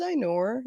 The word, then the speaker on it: Ainur: go on forever anyway um my name is einor obviously my last name is i wouldn't dare anybody try pronouncing that i just i nor b uh i am from kazakhstan uh i